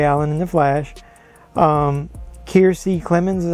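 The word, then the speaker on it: Kiersey Clemons: i said barry allen in the flash um keirsey clemens is how you pronounce the name is iris west and i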